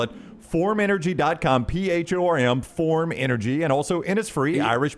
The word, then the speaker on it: Phorm: Forum Energy Drink.